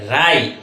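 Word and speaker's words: write: অর্থাৎ পাশাপাশি যদি থাকে তাহলে ডবলিউ এর উচ্চারণ হবে না এই ডবলিউ এর উচ্চারণ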